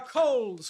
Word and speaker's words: Coles: it doesn't seem i have any broccoli uh kohl's kohl's is spelled in australia is spelled c-o-l-e-s it's a supermarket chain now it's a supermarket